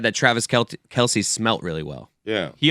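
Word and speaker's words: Kelce: and he's like no he told me in person that it's Kels but that everyone says Kelsey and then he just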